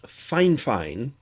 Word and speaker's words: Fifine: company from china that's spelled f i f i n e but pronounced fine fine like two fines fine fine approached me